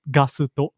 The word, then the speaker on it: Gusto: Famiresu chains, of which Gusto is one. And by the way, Gusto, I'm pronouncing it Gusto, but it's written Gusto, Gusto. In Japanese, it's pronounced Gasuto.